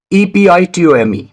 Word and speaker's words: epitome: words that i asked in the beginning well e-p-i-t-o-m-e is epitome b-o-u-q-u-e-t is bouquet and the word c-h-a-o-s is pronounced as chaos do you want to know